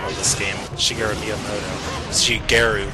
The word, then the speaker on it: Shigeru: Shigeru with a hard G in his name.